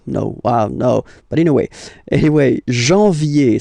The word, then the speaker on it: janvier: But anyway, janvier. So that's the way to pronounce it. Janvier. A-N, en. Okay? And then ye.